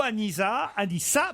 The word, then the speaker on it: Anissa: Pourquoi il y a un seul S et qu'il faut prononcer ce? Parce que c'est un prénom arabe, donc la plupart des prénoms, ils ont qu'un seul S. Quoi. Je te rassure, pendant 5 ans, il m'a appelé Mustapha. Mais en français, le S entre deux voyelles se prononce ZE.